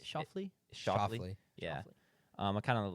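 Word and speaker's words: Schauffele: Um, I was pronouncing his name Sha before the show and is it Shafley?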